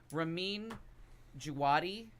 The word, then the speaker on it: Ramin Djawadi: Well, now we have, and I'm going to pronounce his name wrong. God bless me. Ramin Djawadi is, I think, how you pronounce his name, if I'm saying it right.